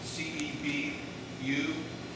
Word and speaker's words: Cebu: He's involved in the amphibious landing at Cebu, C-E-B-U, and it's sometimes pronounced Cebu. I really don't know how they pronounce it.